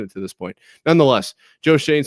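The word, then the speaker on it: Joe Schoen: Joe Shane, I think is how you say it, right?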